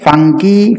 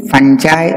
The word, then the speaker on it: fungi: singular fungus is singular plural fungi fungi or fungi all the three pronunciations a non-green plants no